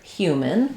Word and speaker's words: human: So, in the word human, we have first syllable stress. And as I mentioned, letters H, U say three sounds. They say the H, Y, and U sounds.